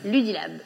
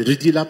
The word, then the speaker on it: Ludylab: Ludilab. Il faut que je prononce bien, sinon je dis Rudilab, c'est pas le but.